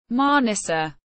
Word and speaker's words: Manisa: Mana Turkish pronunciation manissa is a large city in turkey's aan region